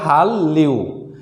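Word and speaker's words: 한류: তাহলে উচ্চারণ হবে হাল্লিউ, তাহলে সঠিক উচ্চারণ হবে হাল্লিউ, হাল্লিউ।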